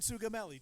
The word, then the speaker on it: Sugamelli: Deegan Sugamelli, just the way it's spelled.